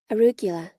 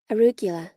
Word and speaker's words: Arugula: Arugula. Arugula.